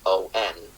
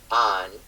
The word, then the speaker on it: on: you pronounce the preposition o n. So north of the line we say on. And so for us the preposition o n rhymes with uh let's say uh like Thomas the name.